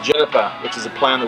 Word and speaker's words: GINIPA: have J IPA but it's actually pronounced Juniper which is a plan